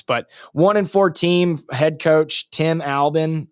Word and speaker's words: Tim Albin: But 1-4 team, head coach Tim Albin, I think that's how you say it, Tim Albin. It is.